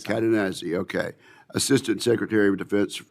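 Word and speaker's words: Cadenazzi: And sir, I hope I pronounced your name exactly correct. You did absolutely, sir. Katanazi.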